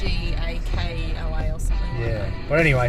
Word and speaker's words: Ngkala: It's called South Ngkala Rocks. It's spelt weird with a G and a K, but I'm pretty sure it's pronounced Ngkala. It's Ngkala or something.